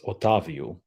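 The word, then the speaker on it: Otávio: certainly like there's got to be a better pronunciation on on that in that Prescott and it's otavio I just put o o h Tas and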